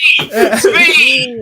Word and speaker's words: Tzvi: Svi! It's not hard. S-V is spelled T-Z-V-I. That's hard, right? Imagine it's spelled S-V-E-E. Svi.